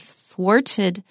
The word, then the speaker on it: thwarted: here that's worth learning I said it sounds like a tale of forted love the wart is a kind of uncommon word we do use it sometimes it's spelled th w a R T he thwarted my plans